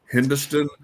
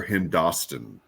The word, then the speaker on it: Hindostan: Is it Hindustan or Hindostan? You got a full Hoosier. It's Hindostan. Hindostan.